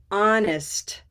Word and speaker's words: honest: Honest. Honest. Honest. Very good. Honest. Yeah. So we have a little bit of a release there. Honest. We have to actually perform that T sound at the end.